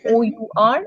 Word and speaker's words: hour: wobble word vowel sounds H is silent in hour we say o u r or h o u